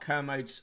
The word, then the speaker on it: Kermode: uh you have such mixed opinions on mark kermit kermode i like him uh mark canosis don't worry about it mick wright pronounced mice rig heart st behave yourself uh